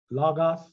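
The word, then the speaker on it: λόγος: in go, glossa, or logos. Glossa, yeah. Glossa. Yeah, that way there, if you want to look at the two different pronunciation of the O's, you'd say that's glossa and logos.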